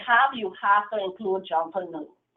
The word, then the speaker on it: Junkanoo: We pronounce it Junkanoo, and some of us sing it.